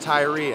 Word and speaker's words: Tyri: our own name out there the name is pronounced tyree i know it's a little confusing but it's tyree and that's how we pronounce it um hopefully